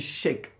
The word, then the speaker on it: Cheikh: quoi bon voilà euh en fait c'est KH à la fin on en français on dit chque chque bon mais c'est un mot arabe c'est un mot arabe donc en fait le KH en arabe on le lit hair vous voyez ha voà c'est pourquoi on dit cher voilà